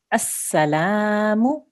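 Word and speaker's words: السلام: The next letter is lam. There's no stroke on it, but there is a shadda on the scene there. So we're not going to pronounce the lam, but there's definitely a fatha on the top here because this lam is here. We can see the lam. So we will pronounce this word, as-salamu.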